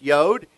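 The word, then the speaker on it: יוד: what that means and it's pronounced yod and it has the y sound so we're going to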